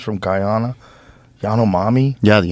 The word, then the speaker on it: Yanomami: Yanomami? Yeah, the Yanomami.